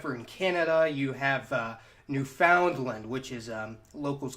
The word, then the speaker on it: Newfoundland: of those except for in Canada you have Newfoundland which is locals call it Newfoundland which okay that makes a whole lot of